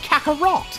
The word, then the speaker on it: Kakarot: deck around wait what that's not how you do it it's pronounced Kakarot no deck around that's